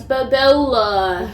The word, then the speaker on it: Bobola: It's Bobola.